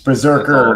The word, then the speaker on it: BRZRKR: Yeah, it's Berserker, awesome. By the way. Yeah, isn't that the anime? No, it's spelled BRZRKR is how they're spelling it.